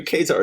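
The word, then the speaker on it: Ka-Zar: I just could have been wrong my entire life, and I think in his first X-Men appearance, they say that it is pronounced Kazar.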